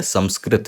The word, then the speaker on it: संस्कृत: संस्कृत बोलते हैं लेकिन इसका सही उच्चारण अब आपको पता है संस्कृत है संस्कृत संसार सिंह यह है और उसका अब आपको